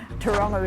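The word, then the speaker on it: Tauranga: I suppose I've already learned that Whakatani's not spelt with an F, and Taronga is like a tow truck, and that's about it, but I'm terrible.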